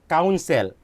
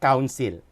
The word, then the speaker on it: counsel: We say counsel, counsel, not council.